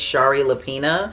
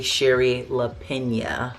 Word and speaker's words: Shari Lapena: say her name because if you just look at it, it looks like it's Shari LaPena, but it's really Sherry LaPena.